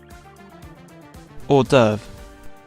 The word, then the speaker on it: hors d'oeuvre: I think it's pronounced hors d'oeuvre. Alright, how do you actually pronounce it? Hors d'oeuvre.